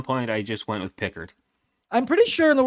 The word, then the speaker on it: Pickard: everybody it is not Calvin Pickard or Pickard Connor how do you say it Pickard okay I've been saying Pickard so okay I always thought peard like when he was coming at the league but at